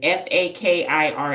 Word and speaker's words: fakir: F A F A K I R S.